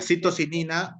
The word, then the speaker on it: citocinina: La citocinina o citoquinina también. Cualquiera de los dos nombres.